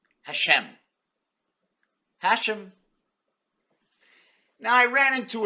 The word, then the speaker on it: Hashem: sort of religious God has a name called Hashem Hashem now I ran into a Jewish fella a couple of weeks ago and I said the name wrong he says it's not Hashem I know I know it's not the laughs